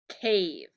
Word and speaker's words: cave: brev brev okay now as soon as i had that e what kind of syllable does it become now vowel consonant e and it says cave it's a long vowel we put the macron